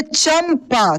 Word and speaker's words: चंपा: इसके बाद देखिए नीचे जो है, देखिए चंपा, चंपा देखिए प आया और प के पहले क्या है? च है और बिंदी है, यानी म के रूप में उच्चारण हो रहा है।